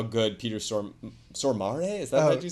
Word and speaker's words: Stormare: just want to call out how good Peter Stormare, is that what you said? Peter Stormare.